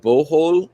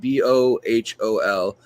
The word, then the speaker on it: Bohol: And on the Philippine island of Bohol, I think is how you say it, Bohol, they found these snails